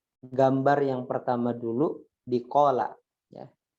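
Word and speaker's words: قال: Gambar yang pertama dulu di qala ya. Qala gitu bacanya.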